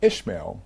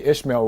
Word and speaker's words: Ishmael: three different Evolutions right Isa is gambia's way of saying isma the name is Arabic it's an Arabic Muslim name that means God hears right most Americans say ishma because it's biblical same name so when